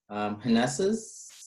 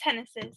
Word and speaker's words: Hennessy's: We have, sorry if I'm going to mispronounce the name, Hneses, is that how? Yeah, it's Hennessy's actually.